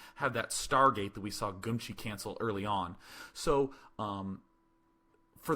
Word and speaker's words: Geumchi: By the way, I'm calling him Geumchi. I hope to God you guys say it like that, because I'm just going to keep pronouncing it that way.